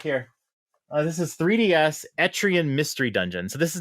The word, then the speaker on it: Etrian: moving on etrian Odyssey excuse me if I say etrian because I have pronounced it etrian for the last eight years um it's etrian apparently um etrian Odyssey HD